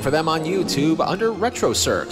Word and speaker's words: Retrocirq: Look for them on YouTube under Retrocirq, spelt with a Q at the end. Retrocirq, where the Q is not quiet.